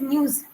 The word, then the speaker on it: news: Okay, and one more thing is that it's news, that the end is news. Can you pronounce it once News. again? Not ja, News. za, za. Open your mouth, za.